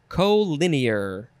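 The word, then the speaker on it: colinear: our last word is co-linear co c-o-l-i-n-e-a-r co lin year co-linear adjective from 1927 number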